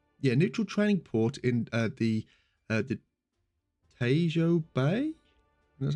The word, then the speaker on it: Tejo: neutral training port in the Tejo Bay. That's how you pronounce it.